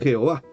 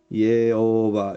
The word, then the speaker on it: Jehová: Entonces leían Jehová y escribían Jehová con J porque sonaba como I.